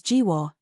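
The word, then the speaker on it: 菊花: Chrysanthemum, or Juhua, pronounced as Jiwo, in Hanyu Pinyin, is a slang referring to the opening of a human's alimentary canal.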